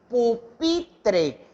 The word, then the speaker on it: pupitre: En este caso, por ejemplo, un ejemplo que les podría dar, pupitre, es decir, yo hago mayor fuerza de voz en pi, entonces ahí es donde va el acento prosódico.